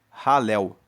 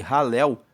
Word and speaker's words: Halel: grupo de salmos, que são os salmos de Halel. Halel se escreve H A L E L. E ralel é o que dá origem à palavra aleluia, que significa louvai a Deus.